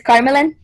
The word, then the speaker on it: Carmelan: Is it Carmelan or how do you say your name? Carmelan? Did I say it wrong? Tell me how to say it. Yes, you did. It's Carmelan.